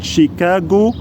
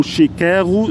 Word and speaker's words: شيكاغو: هي مدينه مدينه مدينه تشيكاجو او شيكاغو زي ما تنطقها شيكاغو في ولايه الينوي